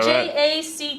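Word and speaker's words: Jacques: this jaes Jac Jac oh there's an S at the end of Jac okay j a c qu s Jac now we're now everybody's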